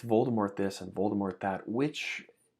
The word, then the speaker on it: Voldemort: the first book, that Voldemort, or Voldemort, apparently, because I guess you can retroactively change how people pronounce the name. But I still say Voldemort.